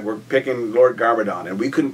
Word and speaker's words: Garmadon: Lord Garmadon, originally we named him Lord Demic, because it sounded kind of evil.